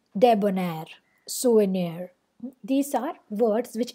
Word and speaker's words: debonair: this particular way whereas stress comes at the end of the word debonair so the both are short unstressed syllables and ner is the long or stressed syllable souvenir so were they